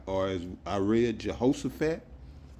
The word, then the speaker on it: Jehoshaphat: to the valley of yahawah shapat or as I read Jehoshaphat is pronounced in the Paleo Hebrew yahawah shapat which means yahawah's judgment